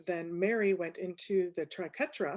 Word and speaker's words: triquetra: And then Mary went into the triquetra. Is that the correct pronunciation, Mary? I always want to say taquerita. It's in my head and I can't get it out. Please. I know. So triquetra.